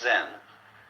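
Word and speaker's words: 禅: Eka is Japanese pronunciation, like Zen is the Japanese pronunciation of the Chinese Chan.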